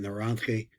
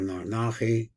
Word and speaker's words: narantchi: He means the tipim, and just what I was trying to explain, it's called narantchi, the way we pronounce it, narantchi. So there's also another pronunciation, it's called narnachi, I've heard from the Israelis.